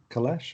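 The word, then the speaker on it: Kailash: said huh yeah um yeah it's called colette kalash i think i'll just get the spelling for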